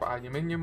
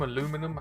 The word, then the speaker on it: aluminium: it's made out of aluminium aluminum however you want to pronounce it it's got spring set